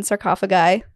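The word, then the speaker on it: sarcophagi: ferary text that were often found in sarcophagy that's the right way to say it and so when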